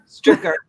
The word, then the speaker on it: Stryker: Stricker. Just think of sticker. Just think of sticker with an R.